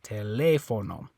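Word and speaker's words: teléfono: tele for no okay so the stress is on this e we know that because of the accent mark telefono okay now by the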